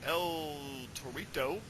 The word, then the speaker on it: El Torito: Los Matadores uh with El Torito which rhymes with Dorito uh versus 3MB or